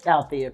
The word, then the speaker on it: Althea: How do you pronounce it? I'm just curious. It's Althea? Althea, correct.